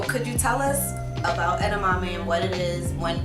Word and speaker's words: edamame: heartless theory I want to first talk about edamame I said it right yes okay so could you tell us about edamame and what it is when people normally would